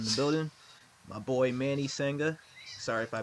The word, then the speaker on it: Sangha: it's kind of i i explain it's like saying ha like saying ha and it just you know i have to spell it out for spell it out for them yeah i mean it's kind of be expected it's kind of more than one of them exotic kind of names yeah it's like sanka it's like closest and